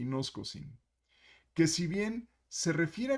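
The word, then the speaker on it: γινώσκω: nos coaching hoy y nos cocina cómo debería ser la pronunciación correcta y nos cocina que si bien se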